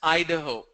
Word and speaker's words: Idaho: It's pronounced as Idaho.